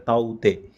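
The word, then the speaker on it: Tauktae: और ये ताउते का जो प्रोनाउंसिएशन है, अगर आप ध्यान से देखेंगे तो यहाँ लिखा हुआ दिखाई दे रहा है ताउते, इस तरीके से है ना।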